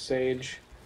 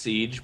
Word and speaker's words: Siege: and Rainbow Six Sage? Did you just call it Sage? Yeah. It's pronounced Siege, but yeah, I'm getting that.